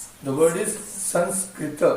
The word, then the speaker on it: Sanskrit: I will just pronounce as it should be pronounced. The word is Sanskrit.